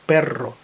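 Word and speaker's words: perro: замінували орки так от Перро звучить із подвійним р розкатистим іспанським р якого немає в інших мовах і його Саме так треба вимовлять Перро не перо а Перро Чому Тому що перрито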